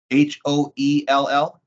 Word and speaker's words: Hoell: It's a Joseph Hale Insurance Agency. Okay. Hoell? Yeah, so it sounds like Hale, but it's Hoel, Hoell is how it's spelled.